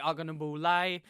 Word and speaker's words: Ogunbowale: Dare Ogunbowale, I believe is how you actually say his name.